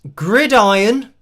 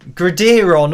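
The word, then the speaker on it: Gridiron: me something about pronunciation Orlando donated $5 and said pronounced grid iron grid iron oh I don't I can't remember how I was saying it now gradon or something maybe I was saying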